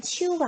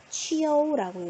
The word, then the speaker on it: qiu: 표기로는 QIU라고 적는데요. 읽을 땐 치우가 아니고 뭐라고 읽는다? 치어우라고 읽어요. 치어우.